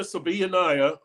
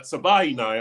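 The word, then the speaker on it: Savaiinaea: Um, Jonah Sabanayiah, uh, Sabaya, I'm sorry. He he always tells us that the last name it rhymes with, you know, think of Hawaii. So, Sabay Sabay Nia.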